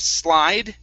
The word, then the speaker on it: slid: This word here, instead of slide, Okay, it does not have an I at the end, so this word is slid with a short I.